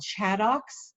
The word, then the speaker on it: ChAdOx: product you might also hear about it called chadox which is how that funny abbreviation is pronounced um that study opened in august end